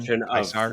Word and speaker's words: Caesar: It's like, oh, Caesar's Legion. Oh, you got that like hard C because it's like Kaiser's Legion in New Well, Vegas.